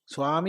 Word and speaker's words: സ്വാമി: സ്വാമി എന്ന് പറഞ്ഞാൽ യജമാനൻ സ്വാമി എന്ന് തന്നെ പറയണം സ്വാമി ഉച്ചാരണം ശരിയാവണല്ലോ അല്ലേ ഇത് പണ്ട് പൂർവികന്മാർ